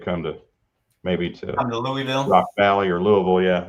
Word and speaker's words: Louisville: pronounced that town wrong it's not Lou eville it's Louisville so it's Louisville and it's North Fork